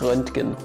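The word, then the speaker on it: Röntgen: the german language so his name is renting last up is yet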